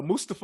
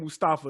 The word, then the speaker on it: Mustafa: Oh, speaking of names, shout out to Mustafa Ali. So he actually checked everybody on not pronouncing his name right. It ain't Mustafa, it's Mustafa. So okay.